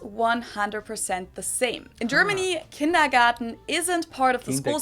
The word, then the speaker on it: kindergarten: and that is kindergarten in German we pronounce it kindergarten and it literally means